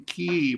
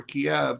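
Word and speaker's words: Kyiv: the US Embassy in ke or Kiev depending on how you want to pronounce it will Russia Let It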